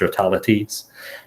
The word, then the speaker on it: Stratelates: I'm sure definitely so the way that I usually pronounce it and and I like it because it rhymes with my real name is is realities and address realities was